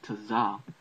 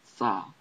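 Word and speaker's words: צ: So no one understood that this letter is not Tazah, but it's actually Sa.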